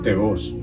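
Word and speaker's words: θεός: Muchas veces se pronuncia teos, pero en la traducción del griego sale con una rayita ahí encima de la O, que viene siendo la tilde, y es teos.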